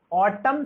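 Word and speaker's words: autumn: ऑटम शब्द में मूक अक्षर क्या है? तो ऑटम शब्द में आपका मूक अक्षर है एन, जो कि एन को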